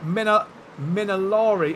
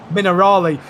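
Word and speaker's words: Acque Minerali: They still carry on racing here down in towards Aqua Minari. I've I've said it wrong. Mineral Minerali.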